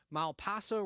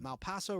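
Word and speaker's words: Malpaso: Brothers distributed imprint like his production company name Mal Paso records m p AO is how you spell that Mal Paso records as part of his deal with Warner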